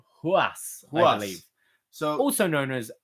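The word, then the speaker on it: Ruas: Ruiz limit its spell are UAS but it's pronounced who us Wally so also known as Adrian Giroud yes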